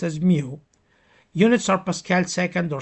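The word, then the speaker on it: μ: Um it's mu pronounced as mu.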